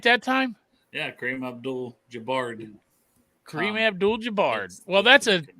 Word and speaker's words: Kareem Abdul-Jabbar: Yeah, Kareem Abdul-Jabbar.